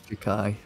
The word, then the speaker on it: Jak'yi: I say Jak'yi. I'm pretty sure it's Jak'yi. But I'm not 100% sure, so I'm not gonna bother correcting you.